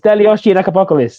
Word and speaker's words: Stelios Giannakopoulos: Stelios Giannakopoulos.